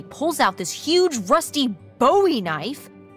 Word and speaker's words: Bowie: And then all of a sudden, with no warning, he pulls out this huge rusty Bowie knife. It's actually pronounced Bowie.